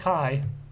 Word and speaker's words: Ki: Yeah, okay, it's actually pronounced Kai.